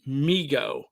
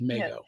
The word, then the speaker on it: Mego: David Abrams named it Migo because his little brother would say that but Marty Abrams is the uh current owner and he pronounces it Migo but I'm gonna so sick with Meo it's like the argument of